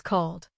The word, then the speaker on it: called: After a voice sound, except D, ED is pronounced as D. Call becomes called. Play becomes played. Both words keep one syllable.